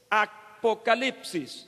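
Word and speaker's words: ἀποκάλυψις: griega para revelación es apocalipsis se pronuncia igual pero se escribe de manera diferente y como suele suceder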